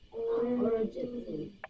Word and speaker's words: urgently: So remember, this is R control. I heard you pronounce this as a traditional U, right? But remember, UR makes what sound? UR, IR, and ER all sound like So now try it with that sound.